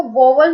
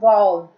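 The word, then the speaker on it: vowel: Friends, इसको वोवल मत बोलना, इसकी प्रोनाउंसिएशन है वाउल, ठीक है?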